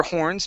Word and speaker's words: horns: Okay, blasted their horns. Make sure to pronounce that H.